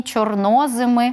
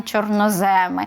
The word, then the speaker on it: чорноземи: знаю що для багатьох українців новиною було те що в Україні чорноземи а не чорноземи що в Україні чорносливи а а не чорносливи так це подеколи дратує